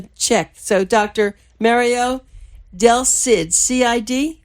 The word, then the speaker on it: Del Cid: Mario Del Cid, C-I-D? Correct. Did I pronounce this right?